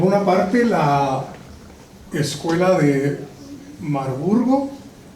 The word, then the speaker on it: Marburg: parte la escuela de marburgo la pronunciación correcta es marburg y por otro lado